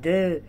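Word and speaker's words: deux: اكس في الاخر دي لا تنطق، يبقى دو.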